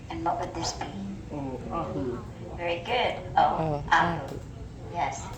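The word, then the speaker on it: Oʻahu: O ahu.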